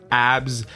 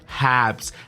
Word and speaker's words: Habs: code ABS H abs abs Habs Habs cuz in English it's not abs abs big ABS no Habs you need to pronounce the h HS it's like the